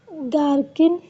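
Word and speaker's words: gherkin: H silent हो जाएगा। गार्किन गार्किन में देखो जी के बाद एच है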